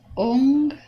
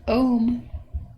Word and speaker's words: Ong: So how I pronounce this is, the mantra is Ong, not Om, not Om.